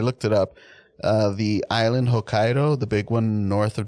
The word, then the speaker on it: Hokkaido: very close to H is it Hokkaido or hokido how do you say uh I'm not sure it's Hokkaido I'm pretty sure took like a semester